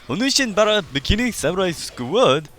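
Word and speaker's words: Onechanbara: Bikini Samurai Squad: I've heard this title pronounced in many different ways, but as long as you say it like Onishin Bara Bikini Samurai Squad, you will be correct.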